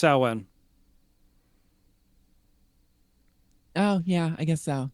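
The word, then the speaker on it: Samhain: it is yes and that would be pronounced saan oh yeah I guess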